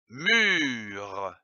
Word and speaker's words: mûre: eux comme une mûre attention ici l'accent circonflexe sur le u il faut allonger le eu une mûre je lis une